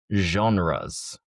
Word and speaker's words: genres: Let's go with the pronunciation of the word genres. Spotify said three music genres.